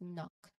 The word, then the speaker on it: knock: And lastly, not lastly, we have knock, which is similar to no. The K is silent, and it's pronounced as knock.